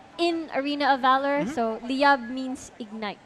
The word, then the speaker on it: Liyab: Liyab? Liyab, Yeah.